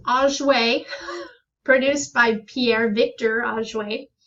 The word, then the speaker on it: Auger: It's pronounced Auger, produced by Pierre Victor Auger in 1925.